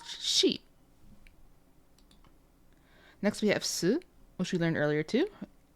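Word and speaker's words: し: So instead of like si, like Spanish, si, it's she.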